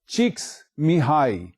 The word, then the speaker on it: Csikszentmihalyi: It is written thus and pronounced as Csikszentmihalyi.